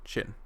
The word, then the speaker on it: Qin: Not Qin, Qin, because I think that's how it's pronounced when you're pronouncing it properly.